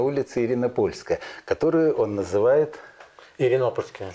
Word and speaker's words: Иринопольская: Иринопольская. Иринопольская. Заметьте, как ставится ударение.